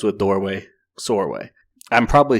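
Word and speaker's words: Csorwe: our main character is sorway sorway it rhymes with doorway it's c-s-o-r-w-e but rhymes with doorway sore way i'm probably saying it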